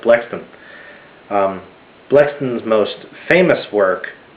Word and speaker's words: Blackstone: Judge Sir William blackston it's spelled like black stone but his name is pronounced blackston um a blacksman was